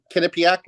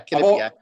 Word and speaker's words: Quinnipiac: What, Quinnipiac? Yeah. On the 30th? Yeah, Quinnipiac. I've always wondered. I always used to call them Quinnipiac. Yeah. And I guess the Q is kind of like a K, apparently.